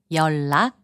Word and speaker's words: 연락: 연락, which means contact, is pronounced as 연락.